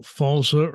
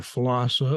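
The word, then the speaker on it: FLSA: I always tell people whether you call falsa or fossa or whatever you want to however you want to pronounce that acronym it's the fair labor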